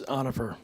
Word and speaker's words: Onifer: Are we saying it right? It's close, Onifer.